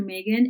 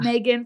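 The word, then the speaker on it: Meaggan: insta is the best way so at dr megan and megan is spelled m-e-a-g-g-a-n um that's a little of my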